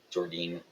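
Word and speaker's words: Jordynne: Jordine, I believe, is how you say her name.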